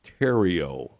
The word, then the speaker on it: Theriault: l uh t and I'm thinking that it's pronounced Tero Wow first try is that right really exactly